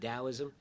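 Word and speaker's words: Taoism: How do you pronounce Dowism? D O I T A O I Smis. Sometimes pronounced with a D. Daoism.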